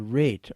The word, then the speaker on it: rate: Another example, the final E in the word rate, R-A-T-E, has no sound, but makes me go back and refigure how to pronounce the A letter 2 letters back.